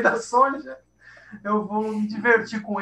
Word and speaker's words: Sonja: Que é Sônia, na verdade. É Sônia. Sim, a gente que fala Sonja. Primeiras era Sônia. A pronúncia é Sônia.